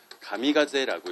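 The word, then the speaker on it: 神風: 그래서 이걸 뭐라고 그냥 일본식 발음으로 읽으면 이걸 가미가제라고 읽어요.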